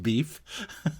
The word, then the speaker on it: Biff: That's pronounced beef. B-I-F-F. Beef.